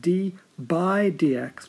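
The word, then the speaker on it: d/dx: Sometimes that's pronounced d by dx because it's a d divided by dx.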